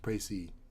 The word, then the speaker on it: précis: Précis is pronounced Précis.